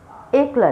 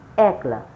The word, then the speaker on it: একলা: একলা নয়, একলা।